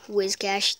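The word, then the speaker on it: Whiscash: Reverse Holo Wishcash. Wizcash, that's how you actually pronounce it.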